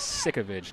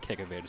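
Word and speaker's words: Sauvage: been mispronouncing her name it is sovage not kovage so I apologize to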